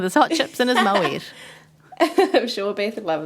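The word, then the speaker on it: Moët: Now, then she reaches for the wine and he's like, oh, Moet. And she corrects him and says, oh, no, Moe. But actually, Moet is the correct pronunciation.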